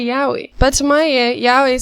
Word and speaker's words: yaoi: When I first heard of it, so many people were adamant that it was pronounced yoi. But when I look up how to pronounce it now, they get really pissed if you don't say yaoi.